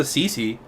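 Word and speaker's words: Sisi: Yeah, there's a Cece, although it's spelled S-I-S-I.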